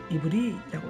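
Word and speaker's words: עברי: 16절에 나오는 히브리 사람은 이브리라고 읽는답니다. 이브리.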